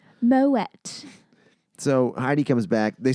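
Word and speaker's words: Moët: in the actual spelling there's the little like two dots above the e making that wet sound but that's not featured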